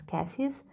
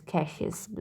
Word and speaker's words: Cassius: name is very important some of the people pronounce his name as cassius sometimes it's i think it's a russian name so i can be pronounced in a different way which is cassius with the sh this part so cassius